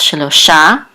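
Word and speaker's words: שלושה: is the accent mark so it's shilosha the accent is on the last syllable so Noah begat or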